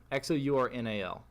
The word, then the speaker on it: Xournal: I don't know how you're supposed to pronounce it. It's Xournal or EL. AL. I was right the first time. Yeah, Xournal.